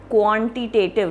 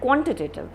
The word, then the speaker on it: quantitative: then this word quantitative now you don't say quantitative no you don't say it like that quantitative so the q u a is very short quantitative quantitative quantitatively right that's how you pronounce it and the next